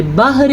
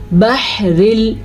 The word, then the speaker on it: البحر: اچھا جی، ہا کے تلفظ کا دھیان رکھنا ہے. والبحر نہیں پڑھنا آپ نے، بحر نہیں ہے یہ، بحر. یہ ہا اور یہ عین دونوں ایک ہی جگہ سے نکلتے ہیں، صرف ان کا ساؤنڈ چینج ہے.